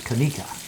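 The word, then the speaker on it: Conecuh: A couple weeks ago, I mispronounced this. It's Kanika, like the Kanika.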